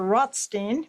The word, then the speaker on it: Rothstein: Arthur Rothstein's father, Izzy Rodstein, actually it was changed to Rothstein. Rothstein we pronounce it is pictured here standing behind his parents, Rabbi Talisim Rostein and his wife D'vorah.